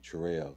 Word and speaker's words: Truel: but it comes from my son trell because that's how it's spelled t Ru e l that's my son name